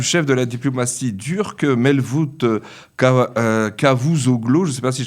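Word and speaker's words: Mevlüt Çavuşoğlu: C'est-à-dire que, comme vous l'avez dit, cette visite du ministre des Affaires étrangères turc, ça se prononce en turc, Mevlut Cavusoglu, cette visite est importante parce qu'elle a eu lieu.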